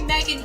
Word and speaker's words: Meghan: The H is silent.